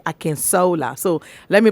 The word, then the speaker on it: Akinsola: wants to be very gendered then you say akin sola so let me pronounce it the way he will akin sola allen mr mr allen is a realtor a